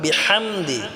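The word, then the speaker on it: بِحَمْدِ: দিয়ে হাটা উচ্চারণ করব বিহামদি এই হাটাও আমরা গলায় চাপ দিয়ে উচ্চারণ করব বিহাম বিহামদি বললে হবে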